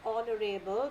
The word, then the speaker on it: honorable: So this is, he is an honorable, because my H over here is silent.